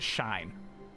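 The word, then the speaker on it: Shein: generally just do um german rules where my teacher says first one does the walking second one does the talking so the e is walking but the i is the one you pronounce out loud shine shine steals designs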